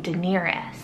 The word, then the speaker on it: Daenerys: gonna give you guys, which is the name Daenerys. It's spelled D-A-E-N-E-R-Y-S.